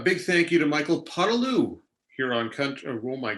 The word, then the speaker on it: Podolioukh: because I'm pretty sure in the pronouncer it's Podolioukh is how they have it pronounced. So we now know it's Podolioukh, and we're very excited about that.